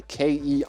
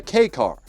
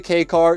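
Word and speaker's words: kei car: I called it the Ki swap cuz I had no idea how to pronounce it. This is just called a K car.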